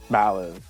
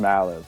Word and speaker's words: Mallive: First of all, it's pronounced Mallive. It's not Malllive or Malllive or anything else you can think of. It's just Mallive.